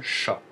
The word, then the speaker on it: ш: ça fera un chat la lettre s'appelle le chat tout simplement C il faut le savoir aussi